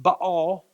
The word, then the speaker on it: Baal: No longer Yahweh, but this god Baal, pronounced Baal. But we're going to say Baal for today to work through it a little easier.